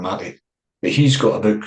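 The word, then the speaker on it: Maté: So the Matty is spelled like meat. There's an accent above the E. So it's Gabbor Matty.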